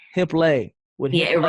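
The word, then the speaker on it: Hiplet: So now you're still a professional dancer with it's called Hip lay. hip lay. With Yeah, hip it lay. rhymes with ballet.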